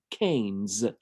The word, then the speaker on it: Keynes: a man called John Maynard KES and he pronounced his own last name kees so we'll go with that this is the